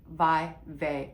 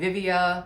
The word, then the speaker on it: VIVAIA: VIVAIA, and I did look it up, that's how you pronounce it, VIVAIA. I was calling it Vivvia.